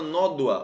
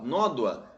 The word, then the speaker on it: nódoa: de acentuação da palavra nódoa ó nódoa nó doa nódoa é uma paroxítona porque a penúltima sílaba é mais forte Então ela é uma